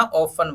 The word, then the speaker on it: often: Third देखिए OFTEN, इसको हम क्या करेंगे, टी को साइलेंट कर देंगे तो OFEN क्या बना, ऑफन बना।